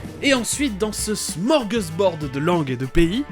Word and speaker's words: smorgasbord: Et des fois, c'est prononcé smorgasbord, comme dans cet extrait. Et ensuite, dans ce smorgasbord de langues et de pays, nous passons au sud de l'Europe avec l'Espagne.